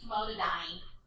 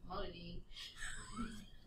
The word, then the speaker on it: famotidine: So it ends in "een." So birdie, D, and "een," dean. It sounds like and rhymes with dean, but it's spelled different. It's spelled like dine, but it's not pronounced like dine. So when you hear people say, "Oh, I need famotidine," you're like, you don't know what you're talking about. You need famotidine. Because they're trying to pronounce it how it looks like it's spelled. All right, how about this one?